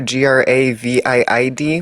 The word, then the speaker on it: Gravid: Uh if you remember G R A V I D, one of our donos, he's name is pronounced uh Gravid, like Gravity. Gravid.